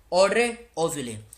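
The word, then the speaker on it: Audrey Azoulay: इसके director general है ऑड्रे ऑजुले। यहाँ पे पूरी स्पेलिंग लिख देता हूँ, AUDREY, ऑड्रे और ऑजुले, AZOULAY, ये इनका पूरा नाम है।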